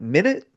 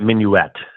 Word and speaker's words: Minuet: Um but finally um the record, correct me if I'm pronouncing it incorrectly, but Midnight Minu Minute. Yeah, Midnight Minuette. Minuette.